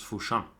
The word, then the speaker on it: Fushan: Jamsnacker is rightly pointing out that Fushan, a place in China, is pronounced Fushan.